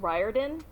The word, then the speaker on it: Riordan: is first of all i think it's pronounced riordan oh okay i think i'm